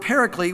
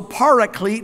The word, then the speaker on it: Paraclete: comes from the word actually is the word Paraclete which comes from two words para we talk about para alongside so para Clete might be another way to say it but